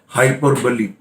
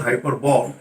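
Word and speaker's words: hyperbole: ध्यान दीजिए, it's pronunciation not हाइपरबॉल, इट्स हाइपरबली। Clear?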